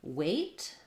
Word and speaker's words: weight: t tight versus weight again we have a silent gh in this word that has the same pronunciation as this word weight um and one syllable this uh e i says the a diphthong which uh again i could rewrite it this way wait um just like the eight sound um but yeah that's